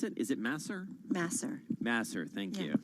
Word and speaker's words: Masser: How do you pronounce it? Is it Masser? Masser.